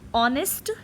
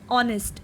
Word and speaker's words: honest: Article an comes before singular noun that begin with a vowel sound or a mute h. What is the meaning of mute h? Like honest, honest, HONEST, R, HOUR.